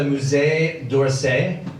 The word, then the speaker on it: Musée d'Orsay: I swung by the Musée d'Orsay. Any French people in, by the way? Yeah. Did I pronounce that correctly? Yes. Close enough, right? Yeah. For an American.